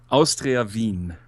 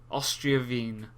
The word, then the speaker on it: Austria Wien: Austria Wien. Austria Wien.